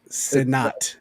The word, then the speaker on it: Sinnott: We've been putting the emphasis on the wrong syllable. It's Sinnott. Sinnott. Ben Sinnott. Okay, so Callow said it right. Ben Sinnott. Okay, Sinnott. It's not Sinnott, but it's Sinnott. Gotcha. Yes. And Ben's first syllable, not the second.